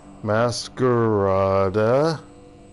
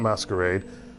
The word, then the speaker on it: Masquerada: let's spell it right mascarada no R not not masquerade songs and shadows hey